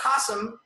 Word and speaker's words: Qasim: Now, Qasim, pronounced just like the word awesome.